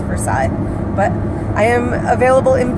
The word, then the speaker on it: Versailles: Yes, I know, us in Ohio, we mispronounce Versailles. But I am available in Versailles.